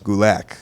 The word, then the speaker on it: Gulak: I learned I learned rhymes with attack. It does. Gulak.